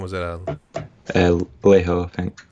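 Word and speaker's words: Laiho: The guitar player, that was Alexei, how do you pronounce his last name? Was it Leho, I think. Leho, yeah, that's Yeah.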